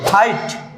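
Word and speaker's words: height: হাইট, উচ্চতা। ফাইট, যুদ্ধ। প্রত্যেকটি ওয়ার্ডের সাথেই জিএইচ আছে, প্রত্যেকটি ওয়ার্ডের সাথেই জিএইচ আছে এবং কোনোটারই উচ্চারণ হয়নি।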